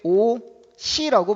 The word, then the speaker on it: 옷이: 옷이 어떻게 발음하니? 옷이 아이고, 어떻게 발음해야 돼? 오시라고 발음하죠.